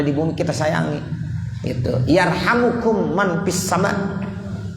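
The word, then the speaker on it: يرحمكم: Yarhamukum man fis sama. Ada yang bacanya yarhamkum boleh, yarhamukum juga boleh. Tapi yang lebih bagus yarhamukum, jumlah du'aiyah jadinya. Yarhamukum man fis sama.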